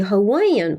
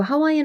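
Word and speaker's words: Hawaiian: 이게 입에 익어 가지고 하와이언 하시는 분들이 많을 텐데 강세가 하와 거기 강세가 있어요 그리고 앞에 하라고 정확하게 하지 않고요 정도로 밑으로 낮추면서 대충 발음을 해줍니다 그래서 렇게 발음을 하셔야 맞아요 그래서 우리 영화에 그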